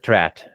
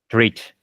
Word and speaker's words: treat: past simple you said trat it's not trat it's treat treat so EA e a uh you know the